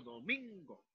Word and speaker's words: domingo: Lo mismo en domingo, ¿ya? La sílaba tónica está constituida por min, ¿sí? Mientras que la sílaba átona será do y go, ¿sí? Yo pronuncio domingo.